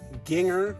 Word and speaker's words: Ginger: My name is Ginger, pronounced Ginger, like singer, but with the G, for those of you who don't know.